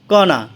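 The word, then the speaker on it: corner: কণা অর্থ কোণ, কণা অর্থ কোণ। এখানে কর্নারের ওয়ার্ডের মাঝখানে আর আছে, আরের পরে কনসোনেন্ট থাকার কারণে প্রথম আরের উচ্চারণ হবে না এবং লাস্টে ওয়ার্ডের আর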